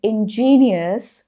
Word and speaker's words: ingenious: Next one is ingenious versus ingenuous. They're pronounced differently. Okay, pay attention. Ingenious ingenuous.